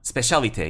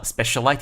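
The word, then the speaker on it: Spécialité: Specialité, yes. I pronounced it Specialité in a video in the past, but it's actually pronounced in French, Specialité. Right?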